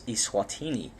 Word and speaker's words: Eswatini: And the country is now to be pronounced as Eswatini, and that's recently been recognized internationally. So now Swaziland is a thing of the past. We should refer to it as Eswatini.